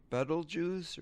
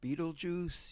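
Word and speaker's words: Betelgeuse: shoulder of Orion is the star Beetlejuice or Beetlejuice. You can pronounce it either way and I guess it's correct.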